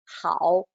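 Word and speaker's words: 好: example for you so this is pronounced as how how and you may find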